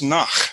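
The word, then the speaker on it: נח: And of course, that's pronounced Nach or something to that effect. You have to spit on the fellow you're talking to say it right. And by the time we get a hold of it, we turned it into Noah because we don't like to spit on people when we talk.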